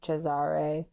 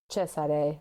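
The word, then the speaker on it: Cesare: I always want to say the Spanish pronunciation like Chzare. Mhm. Chesare.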